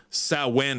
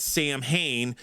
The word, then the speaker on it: Samhain: And the other thing is, he said, you didn't pronounce Samhain right. You don't say it Sam Hain.